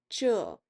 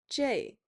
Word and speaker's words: 这: Please note that 这 (zhè) has two variations of pronunciation The official one is zhè but oftentimes in conversations people say zhèi which sounds like the English letter J You'll see me switch